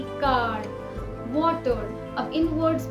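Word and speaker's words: caro: लेकिन जब भी एर्रे दो वॉवल्स के बीच में आएगा तब ऐसा नहीं होता, तब इसका प्रोनाउंसिएशन थोड़ा लाइट होता है। जैसे कारो, पेरो। अब इन जगहों पर हमने इसे कार्रो या पेर्रो नहीं बुलाया, ऐसा करने से इसका मतलब भी बदल सकता है।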